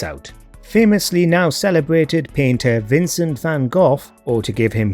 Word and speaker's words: Vincent van Gogh: Famously now celebrated painter Vincent van Gogh, or to give him his correctly pronounced Dutch name, Vincent van Gogh, received little praise during his life.